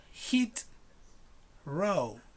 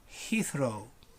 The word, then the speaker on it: Heathrow: airport receives in london many people say hit row hit row no it's not two words just one it's not hit row is heathrow heathrow now you heathrow perfect so